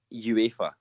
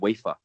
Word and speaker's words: UEFA: i think even with my my scottish accent uefa is surely the way that it should be pronounced not not wafer like like a wafer biscuit anyway the cowboy